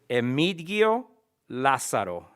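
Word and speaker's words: Emigdio Lazaro: name l a z a r o you pronounced it emitigio la saro ah okay correct you got it thank you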